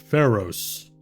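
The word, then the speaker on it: Feros: It's spelled on the plaque F-E-R-O-S. Pharaohs.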